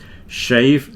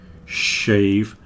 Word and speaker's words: shave: at the other week with the difference between the sh and the S this is why it's important shave and shower this is what you do in the morning well men do I don't know if women shave every morning shave and shower not the same as save and sour save and sour are different words you see the difference shave save shower sour very different we need to get